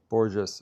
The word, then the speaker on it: Borges: Just Portuguese and Brazilian please no Spanish. Borges with J Borges okay.